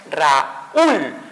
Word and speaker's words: Raúl: Cuando dividimos silábicamente no es Raúl, sino es Raúl. El sonido fuerte se dio en la U, por lógica lleva una tilde y se separa esa unión de vocales.